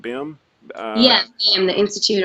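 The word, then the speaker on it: BIMM: Am I pronouncing that right? BIM?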